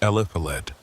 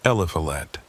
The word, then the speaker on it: Eliphalet: My name's Eliphalet, and if that sounds like something out of the Old Testament, you can blame my grandmother. She had a thing for biblical names that nobody could pronounce right on the first try.